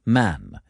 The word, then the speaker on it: Mahon: He had a Roman nose, a snow-white, long beard, and his name was Mahon, but he insisted that it should be pronounced Man.